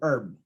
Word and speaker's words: herb: Kasi like what I've said, yung letter H may silent letters po siya na hindi natin binabanggit yung H, but yung O ng honest, yung O ng hour, yung E ng air, and then O ng herb.